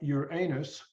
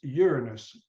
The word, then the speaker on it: Uranus: just for the record it's not your anus it's Uranus don't make the pronunciation mistake please so does anybody want